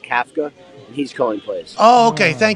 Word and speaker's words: Kafka: It's actually pronounced Kafka, and he's calling plays.